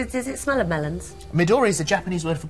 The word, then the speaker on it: Midori: Let me get this pronunciation right. Midori. Midori.